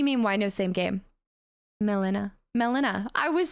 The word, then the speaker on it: Melina: Melina.